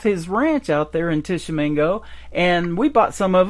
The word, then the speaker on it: Tishomingo: One of the places I'm playing, and I think it's Tishomingo, I think is how you pronounce it, is Old Red.